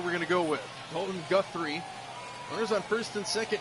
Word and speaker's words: Guthrie: That's how they pronounced it over the intercom. So that's where we're going to go with. Dalton Guthrie.